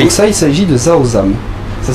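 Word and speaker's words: rau răm: Donc ça, il s'agit de Zaozam. Ça s'écrit R-A-U-R-A-M.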